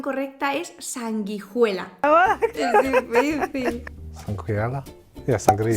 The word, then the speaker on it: sanguijuela: Sanguinea. Ay, Uy, qué difícil. La pronunciación correcta es sanguijuela.